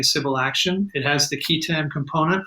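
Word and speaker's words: qui tam: I use key, even though I had years of Latin education as well, because somebody once told me if you don't pronounce it the way everyone else does, they'll think you don't know what you're talking about. So I'll say key tam, and that extends to the tax provision.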